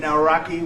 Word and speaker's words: Nawrocki: It's a great pleasure to have President Nawrocki with us, Poland.